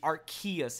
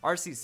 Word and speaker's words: Arceus: a buck-toothed snobby kid whenever you hear the art kiyose out there just obnoxious it's annoying our seats is clean and that's the way to go